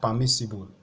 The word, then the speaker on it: permissible: see on your screen what you need to stress is the third syllable from the right hand side which is also called the anti penultimate syllable okay so you need